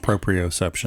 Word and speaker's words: proprioception: pro retive system am I saying it right proprioception thank you I knew I was going to